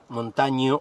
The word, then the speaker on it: Montaño: Pero ahí no termina el despropósito adentro del Estado en esta semana, sino que se reveló que en ACE, Montaño, que se escribe Montagno, Montaño se lee, que era un representante